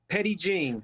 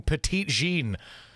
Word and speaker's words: Petit Jean: what is it how do you say it petty gene petty gene i'm saying petite gene yes that's because you're not from arkansas no of course i'm